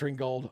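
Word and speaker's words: Ringgold: Ringold. Yes, it is pronounced Ringold.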